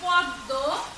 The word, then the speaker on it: পদ্ম: এরকম আছে পদ্ম, পদ্ম। দেখো এইগুলো কিন্তু সব দুইবার উচ্চারিত হচ্ছে, এই দ বর্ণটি দুইবার উচ্চারিত হচ্ছে।